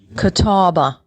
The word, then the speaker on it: Catawba: message to wendy to see how to properly pronounce it uh she just sent back let's see how she says it catawba okay oh you weren't too far off her